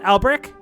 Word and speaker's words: Albrecht: I pronounced it correctly that time, right, Adam? Albrecht? Yes, you did. Okay. Yeah, it's like the bread.